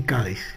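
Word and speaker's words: Cádiz: la que ha quedado Cadis, porque Cádis viene de la pronunciación árabe Kadish, que que es la pronunciación árabe de la forma latina que era gades.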